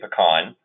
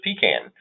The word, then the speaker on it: pecan: proper way to pronounce, I say pecan, because I'm from Metro Atlanta. But people from South Georgia pronounce this pecan.